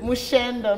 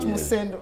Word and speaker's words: Mushendo: Mushendo. Not Musendo. It's written as Musendo. And and I'm sorry for that. No. Yeah. My director tells me it's Mushendo. The correct pronunciation.